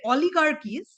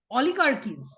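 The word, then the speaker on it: oligarchies: এই টার্মটা এই টার্মটা খুব উল্লেখযোগ্য অলিগার্কিস এই উচ্চারণটা এইরকম হবে অলিগার্কিস লিখে নেবে ও এল আই জি এ আর সি এইচ আই এস সি এইচ আই ই এস অলিগার্কিস অলিগারিস মানে জানো যে যীশু খ্রিস্টের জন্মের প্রায়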